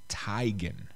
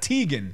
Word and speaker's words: Teigen: already tired of it her name is pronounced Chrissy Tigan like a like a necktie Tigan not Teigen nobody would know that